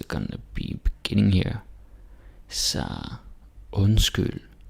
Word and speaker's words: undskyld: Så undskyld, underlig, rund, sund. And again. Undskyld, underlig, rund, sund. Okay? Yeah, you can do it. D is silent. Don't say undskyld and underlig, rund, sund.